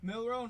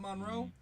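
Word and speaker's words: Milroe: how do you say is it Monroe Monroe Mill Road not Monroe millro like who's there going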